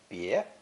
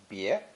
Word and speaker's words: 别: This character is pronounced second tone, bie, bie, and originally depicted the process of separating ox flesh from the shoulder blade, cleaning it for divination purposes.